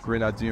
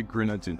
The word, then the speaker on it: Grenadine: This is Grenadine right here. So how do you pronounce it? I say Grenadine. I have French and I say Grenadine. Grenadine. Grenadine. Grenadine. It's like that hard eye.